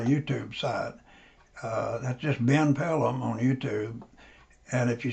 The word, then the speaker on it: Pellom: Pellom is spelled P as in Paul, E-L-L-O-M as in Michael. So Pellom Planetary Research.